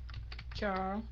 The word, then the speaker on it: trachoma: Mình nhấn cái dần thứ hai nha. Và mình đọc là com chứ không phải là cô nha.